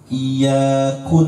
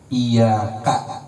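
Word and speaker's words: إِيَّاكَ: Iyyaku na'budu wa iyyaku nasta'in. Iyyaku na'budu wa iyyaku nasta'in, tak boleh juga. Iyyaka harus fathah.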